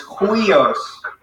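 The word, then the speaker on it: υἱός: So because it's a rough breathing mark, it doesn't sound like we, but it sounds like an H in front of it. So it sounds like hui. So it's huios.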